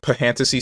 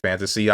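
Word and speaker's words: Phantasy: I know this isn't Pahantasy Star, but I'm gonna say Pahantasy Star. This is Kenshi. Am I stupid? How did I forget that this game exists? It's pronounced fantasy.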